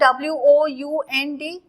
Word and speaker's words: wound: राउंड spelling ROUND, वूंड spelling WOUND.